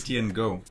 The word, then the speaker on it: City NGO: wie spricht man die aus? City and Go.